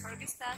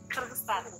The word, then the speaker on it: Kyrgyzstan: Like, English pronunciation is Kyrgyzstan, but we say Kyrgyzstan.